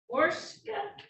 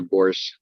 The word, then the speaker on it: Borsch: Officers, Patman and Borska, did I say it right? Good morning. It's Officer Borsch.